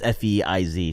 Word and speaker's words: Faiz: No, it's Feiz. Sheikh Amr is like, how do you spell Sheikh Fayaz? It's not Fayaz. Fayaz is a very like Desi way to spell it. Faiz is like F-A-I-Z.